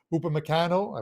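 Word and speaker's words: Upamecano: a couple of them for lebzig angelino and upon meccano i pronounced that one right on first shot are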